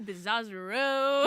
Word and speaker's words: Bizzozero: He like asked me every day how to pronounce it, and then Aw. he's like, ooh, Bizzozero.